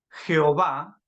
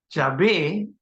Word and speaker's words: Yahvé: Pronunciamos una variación. Jehová no es la forma correcta. Yahvé es la más correcta.